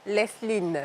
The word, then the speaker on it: Lesline: Je devrais dire Léline ou Lesline? Lesline.